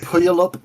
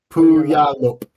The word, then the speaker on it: Puyallup: The Puyallup Barrens. Spell that for me. Puy. Yeah. ALL. Yeah. UP. Puyallup.